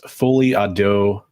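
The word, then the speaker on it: folie à deux: I wanted to go back to Son of Crom's comment because he said for English speakers it's pronounced folie à dos.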